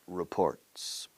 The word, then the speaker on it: report: telephone and reading Financial reports report report you stress stress the second syllable stress the second syllable